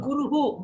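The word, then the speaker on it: गुरुः: how will you pronounce this visarga? Like full. No. Guruhu.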